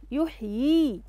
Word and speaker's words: يحيي: أحسنتي، انتبهت للياء الصغيرة، هنا حرف ينطق، يحيي ينطق هنا الحرف ولا يتجاوز عنه.